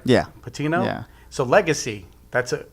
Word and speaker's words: Patino: Patino?